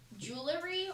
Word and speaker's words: jewelry: Jewelry or jewelry? Jewelry. Jewelry. Jewelry. Do you say the F? Jewelry. Jewelry. Jewelry. Jewelry. Jewelry. Jewelry. It's 2 syllables, not 3.